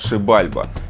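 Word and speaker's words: Xibalba: называется этот уровень но потом я конечно знал что правильно говорить водопад шибальба и шибальба у древних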